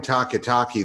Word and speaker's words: Takitaki: of them is assume taki taki the only football player in the NFL whose last name rhymes with walkie-talkie I can't manukan order